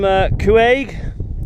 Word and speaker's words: Cuaig: Look on the map, I'm not far from Cuaig.